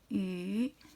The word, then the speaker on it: 雨: Voilà, ça se prononce, ça se dit yu, c'est la pluie.